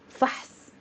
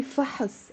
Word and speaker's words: فحص: But the actual word is fahs. But if it's easier, say fahas. And we native speakers do that too.